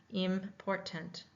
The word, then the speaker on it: important: Trying to listen for the vowel sounds. Okay. Important. Important. Important. Important. Important. Important. Three. Okay, let's put our hands underneath our chin and try that. Important. Important. Important. Three syllables in important.